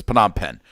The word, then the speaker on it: Phnom Penh: did it anyways but but it's phenom pen and i know this